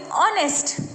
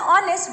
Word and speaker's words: honest: remember whenever you're telling honest but the word honest begins with the letter h but when you're pronouncing you'll take you'll just sound you'll begin with the sound of the vowel and that is oh